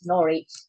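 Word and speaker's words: Norwich: Anglia which is in norch as everybody realized or aware that it it it it shows nor but it's actually pronounced as norch so there's no W in it funny with English and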